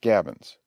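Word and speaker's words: gabions: trench forms a complete breastwork the word is pronounced gavins the fashions pronounced fashions are as i said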